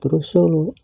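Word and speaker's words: رسل: seperti panjangnya bacaan madii kalimat rusulu juga kalimat rusuli dan kalimat rusula bila dihentikan membacanya maka harus dibaca rusul kalimatutubun juga kalimatubin bila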